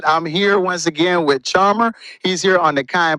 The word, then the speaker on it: Charmherr: That's CHARMHERR. It's really, it sounds like Charmherr, but it's really just Charmherr.